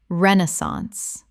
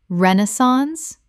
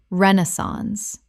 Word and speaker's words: Renaissance: Common mispronunciation. Renaissance. Correct pronunciation. Renaissance, British, or Renaissance, American. 3 syllables with the stress on the first.